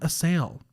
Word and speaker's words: Assael: recent new acquaintance of mine please welcome sam a sale hi to the studio so thankful to be